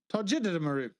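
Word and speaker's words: Togedemaru: It is Togedamaru. Tojidimaru.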